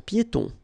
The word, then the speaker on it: piétons: Un passage pour piétons. Un passage pour piétons. Final S here, not pronounced, and then final not pronounced.